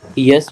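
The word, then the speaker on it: ja: Yes means y. Yes means y. This j in German we have to pronounce is y.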